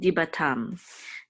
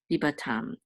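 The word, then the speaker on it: דִּבָּתָם: And this is a tav with a kamatz and a mem sofit, which means tam, dibatam, dibatam.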